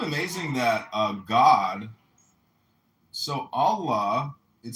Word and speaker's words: Allah: The god in Arabic will be Allah pronounced Allah or Allah which is simply God with a capital G.